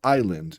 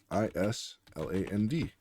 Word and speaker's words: island: So, island. And do you remember how it's spelled? I S L A N D.